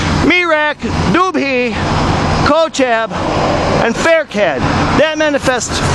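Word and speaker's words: Pherkad: So the associated star with M.I.M.A.L is what I just said, Faircad.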